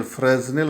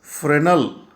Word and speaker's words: Fresnel: ह्याचं spelling FRESNEL, फ्रेझनेल असं असलं तर ते ॲक्च्युली फ्रेनल डिफ्रॅक्शन असं म्हणायचं आहे.